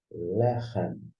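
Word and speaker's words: לחם: Na sequência, nós temos o L e o E, le, ou você vai pronunciar lé, seja aberto ou fechado. Nós temos o re, que é um som mais, vou dizer, raspado, gutural, e embaixo a vogal, E. No final, você tem o M. Então, a gente pronuncia lechem.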